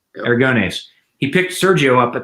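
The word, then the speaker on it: Aragonés: So he picked up, again, names, going to get butchered, but Sergio, how do you say his last name? Aragones. Yeah. Aragones.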